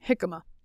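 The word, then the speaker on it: jicama: j i c ma a how would you pronounce that hikma yes that's what she said what about jaama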